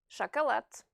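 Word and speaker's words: шоколад: Chocolate. So pay attention to the pronunciation of the two O's in the word chocolate. The stress falls on the letter A.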